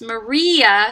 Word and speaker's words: Maria: on the uh right it's maria so the stress is on the tritone and then it kind